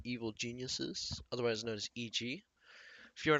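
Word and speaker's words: 一: horizontal line that is the Chinese character for one otherwise pronounced as e and he will be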